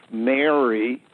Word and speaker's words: Marie: time the period of Mary which is giving birth through genetic engineering as opposed to normal human activity uh the word Mary uh seems to be key in French it's pronounced Mar and all you have